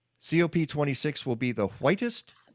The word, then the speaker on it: COP: it cop is it cope is it cop 26 what what do you use cop 26 cop okay so there we go